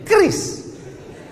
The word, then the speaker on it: QRIS: Cara bacanya gimana sebetulnya? Kris. Q-nya quick. Quick artinya cepat. R-nya response. Kris, quick response code.